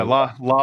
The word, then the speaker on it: Lal: called l l yeah la la la la I I say it like like the Halal like Hal yeah it's Lal like Halal but okay Lal Lal